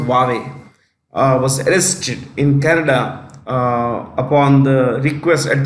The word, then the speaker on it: Huawei: It's worried about the future because China has been deeply anti-Canada ever since the chief financial officer of Huawei, it's pronounced Huawei, was arrested in Canada at the request of the US government.